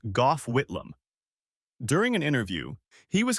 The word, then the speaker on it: Gough Whitlam: Back in the 1970s, we had a prime minister named G A, pronounced Gough Whitlam.